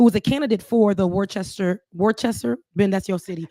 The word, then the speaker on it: Worcester: Ashley Spring, who was a candidate for the Worcester, Ben, that's your city. It's actually Worcester. And I don't ask me why it's pronounced like that, but yes, go ahead.